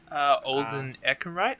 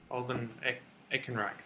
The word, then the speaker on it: Alden Ehrenreich: Alden Ehrenreich, I believe that's how you pronounce it. Alden Ehrenreich.